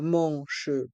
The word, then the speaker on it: manches: Un t-shirt à manches courtes. Un t-shirt à manches longues. Ici, le mot t-shirt se prononce comme en anglais. À manches courtes, les lettres A et N se prononcent en, manche, courte, à manches longues.